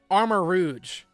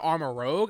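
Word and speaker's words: Armarouge: well two of them are are uh our pronunciations armor Rouge that's the name of that Pokemon I said armor Rogue I will specifically I said armor Rogue or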